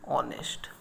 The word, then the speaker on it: honest: Now words beginning with a silent H take an before them. Okay, now let us take an example, an hour, an honor, an honest person, etc.